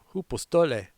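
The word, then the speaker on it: ὑποστολή: So we're going to Greek out on this phrase shrink back pronounced hoopostole meaning withdraw, retreat, pulling back under pressure.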